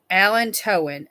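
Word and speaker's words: allantoin: anyway alan it's per it's pronounced alan towen a-l-l-a-n like the man you know man's name alan and then toe-in t-o-i-n so i don't know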